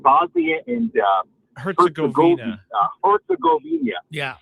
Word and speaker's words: Herzegovina: Herzegovina. Yeah. Herzegovina, I think is how it's pronounced.